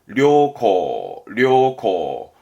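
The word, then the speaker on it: 良好: 발음은 료코.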